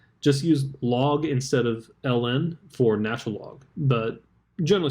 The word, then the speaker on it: ln: for natural logarithm but it's actually written as ln now the reason we write it as ln and it's pronounced l n the reason that we write